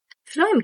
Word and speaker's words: phloem: फ्लोएम में किसकी pronunciation आ रही है?